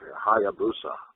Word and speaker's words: Hayabusa: Yeah, I was tagging with Hayabusa.